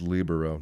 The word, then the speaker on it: libero: what the libero is libero guy yeah it's pronounced libero that would been awesome sure you don't know